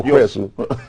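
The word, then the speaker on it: Whereso: It's spelled where and S-O. Is it Hresu? Where? W-H-E-R-E-S-O. Hresu. No, Hresu. Don't try it. We are Okro people. No, Hresu.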